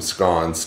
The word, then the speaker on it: scone: I make awesome scones too, because that's how you say it, scone.